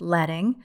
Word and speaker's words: leading: drop down deals with leading but it's spelled like leading pronounced letting which is actually better